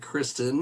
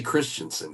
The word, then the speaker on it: Christen: That is Dave Christen. He is I don't want to say Christensen because that's not that is not the proper pronunciation for sure on that.